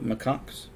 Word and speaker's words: macaque: able pronounce it so macaques is it really pronounced macaques macaque macaque uses tools yeah that's how that's pronounced right there right where